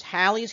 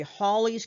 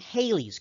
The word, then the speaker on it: Halley's: okay now i've i've heard uh the pronunciation is halley's comment um some people say it really should be holly's comment uh um but not haley's comment now haley's comment is